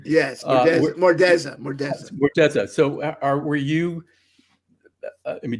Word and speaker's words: Murza: When you were working with Michelle Murza, is that how you pronounce her last name? Yes, Mordeza.